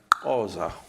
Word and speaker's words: Xhosa: Bueno, la pronunciación correcta, o más o menos correcta, es Xhosa. Se dice así.